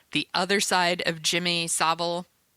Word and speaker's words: Savile: other side of Jimmy Savile Seville Savile sorry Jimmy zoval crimes That